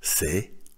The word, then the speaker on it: c'est: «Ce» – «это» плюс глагол «быть» дает форму «c'est» – «это есть». В местоимении «ce» выпала буква «э» для удобства произношения. И теперь мы имеем конструкцию, звучащую как «c'est» – «это есть».